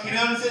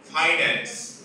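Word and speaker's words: finance: তো প্রথমেই জেনে না এর উচ্চারণটা ফিনান্স নয়। এর উচ্চারণটা কি? ফাইনান্স। উচ্চারণটা কি হবে?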